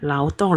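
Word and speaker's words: 劳动: Ini bacanya lao yang berarti buruh ya. Oke. Tong ya, ya lao tong lengkapnya ya.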